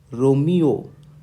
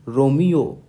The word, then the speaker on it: Romeo: the letter R pronounced in phonetics it is pronounced as Romeo Romeo Romeo okay so that's how the letter R